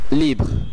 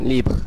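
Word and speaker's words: livre: আমি এটি আরেকবার উচ্চারণ করে দেখাচ্ছি, লিভ্র যার অর্থ মুক্ত এবং এর বাংলা কাছাকাছি উচ্চারণ লিভ্র। আপনাদের মনে রাখতে হবে এর উচ্চারণ গলা থেকে আসতে হবে।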